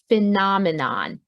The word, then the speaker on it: phenomenon: is this word here phenomenon again the pH makes an F sound so it doesn't look